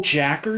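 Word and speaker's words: J.A.K.Q.: and jack q oh jacker you mean it's j a k q yeah but the show pronounces it jacker so i've always said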